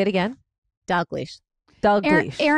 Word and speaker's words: Dalgleish: But now your last name is Dish. Did I say that right? Dish. There's a tricky L in there that always gets mispronounced. D. Wait, say it again. Dog leash.